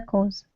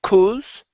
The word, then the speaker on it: cause: his commitment to the cause. Okay, very good. Now that last word, instead of pronouncing it cause, okay, open your mouth up just a little bit. It's cause. Cause. Good, good.